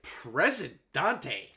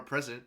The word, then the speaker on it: President: President Dante. That's not how you say it. It's just President, but that's okay.